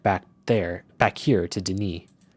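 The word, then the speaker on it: D'ni: there back here to Deni? Oh, Dunny. That's what this that's how you pronounce this because I remember that place is called Dunny.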